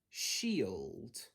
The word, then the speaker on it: shield: So for these words, we're looking to pronounce it as an E sound. So I've got sh-e-old, shield.